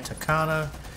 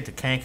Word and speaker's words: Tachanka: I'm gonna say Tachanka, that's how I say it. I hope that's how you say it, man. But but yeah, Tachanka is just an absolute badass with this mounted LMG, man.